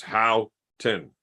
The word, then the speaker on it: Houghton: had at the end, I called him and asked him how to fucking pronounce it, or I texted him and asked him how to pronounce it, and it came back with 2 words: Houghton. But I like saying Hooten because it's fun.